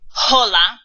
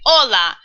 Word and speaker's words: hola: letter in Spanish oops like the word hola starts with an H but we don't say hola at least I hope you don't you say hola so actually H is